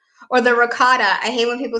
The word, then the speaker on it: ricotta: Maybe some Italians do say ricotta, but the most Italians that I know have said ricotta. Ricotta. Yeah. So like the C is kind of like a G.